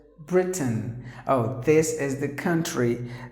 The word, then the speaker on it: Britain: Now here the letter I is silent, so you have to pronounce the word as Britain.